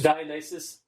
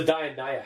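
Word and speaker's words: Dionaea: really i might be i might be saying it wrong oh okay totally wrong it's the dionya house so d-i-o-n-a-e-a i i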